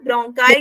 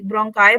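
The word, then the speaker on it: bronchi: ब्रोंकाई के yes ma'am. अब ब्रोंकाई के साथ, अच्छा कहीं ना ब्रोंकी बोल देते हैं, कहीं ब्रोंकी, ब्रोंकाई बोल देते हैं, जो भी है बस स्पेलिंग सही होना चाहिए।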